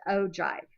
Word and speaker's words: ogive: So, the ojive is either a cumulative frequency graph or even though it looks like it's spelled ogive or og, it's pronounced ojive.